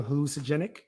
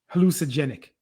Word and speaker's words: hallucinogenic: Hallucinogenic. Nice try. I said it properly. You did not. Hallucinogenic. You left that whole syllable. Not hallucinogenic. Wait.